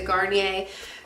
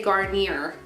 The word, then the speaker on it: Garnier: Then I used up, this is the first time I've ever tried the Garnier. I said it right for the first time. I always say Garnier.